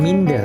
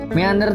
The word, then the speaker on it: meander: Lalu yang kedua adalah meander, ya, bacanya meander bukan minder ya. Meander itu adalah ragam hias yang bentuk dasarnya adalah huruf T.